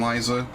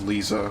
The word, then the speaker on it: Liza: need to fight uh tate and liza which i used to say her name is lisa which apparently is wrong their gym has been